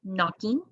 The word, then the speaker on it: knocking: let's preview some spellings we have nuh spelled with kn like knocking we have spelled with